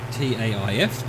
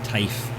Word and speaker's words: Taif: apologize for that but if they've anglicized it as t-a-i-f i assume that's not tafe it's taif otherwise it would have been tafe or something to make it easier on us english speakers to pronounce it but then again